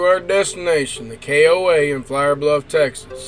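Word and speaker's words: Flour Bluff: destination the koa in flower bluff texas side note flower bluff is spelled f-l-o-u-r like the flower you cook with this koa was a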